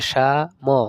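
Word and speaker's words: 삼: রস ই অর্থ দুই স আকার সা ম উচ্চারণ হবে সাম সাম অর্থ তিন ছয়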